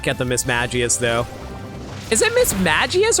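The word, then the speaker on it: Mismagius: to not get the Miss magius though is it Miss magius or Miss Maggie I think the G can't be pronounced like an S kind of sound it's like J like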